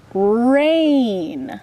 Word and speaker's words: rain: here's the word rain when two vowels go walking the first one does the talking and the second one is silent rain I see so you don't even say the I nope here we have